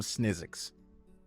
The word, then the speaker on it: Snizzix: I don't want to mispronounce her name. Madame Snizzix.